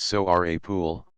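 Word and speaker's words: Seorabeol: April and May 1907 the word Soul one coined by the Shila Kingdom in Southeastern Korea and originally pronounced so are a pool means national capital and hanyang Son of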